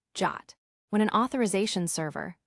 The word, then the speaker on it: JWT: The JSo web token or JWT pronounced Jot.